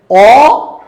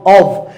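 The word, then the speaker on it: of: আছে এই যে দেখেন ও এফ এটাকে বলা হয় অফ এটার উচ্চারণ কি অফ ও মানে অব এই যে অভ আর এই যে এ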